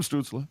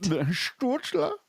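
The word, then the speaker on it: Stützle: Tim Stutzla. Anyway, you didn't say it right. Stutzla.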